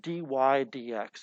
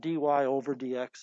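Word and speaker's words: dy/dx: under the calculate menu that's pronounced d y d x it's not d y over d x it's pronounced d y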